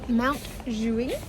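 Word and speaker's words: Montjuïc: This morning we are going to Montjuic. Is that how you pronounce it, Dave? That's exactly right.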